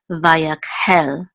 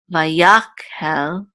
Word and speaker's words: Vayakhel: rock is under house it's vyek hell it's not my yok hell it's the vehicle okay